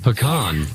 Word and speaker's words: pecan: You can also say pecan. Pecan. Yeah, there's at least three ways to say it, but I'm going to go with pecan.